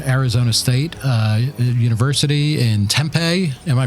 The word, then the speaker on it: Tempe: We are at Arizona State uh University in Tempe. Am I pronouncing that right? Tempe.